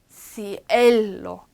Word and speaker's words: cielo: 그리고 cielo I하고 E 중에 누가 강해요? E가 강하니까 cielo buenos 이것도 소리가 나.